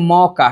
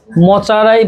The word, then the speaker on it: মকা: এখন বানাবো আমরা মকা। কি বানাবো? মকা মানে কি? মচারাই বাংলায় মকা, চাইনিজ বা জাপানিজ এটাকে উচ্চারণ করতে পারে না, যেন ওরা মোচা বলে।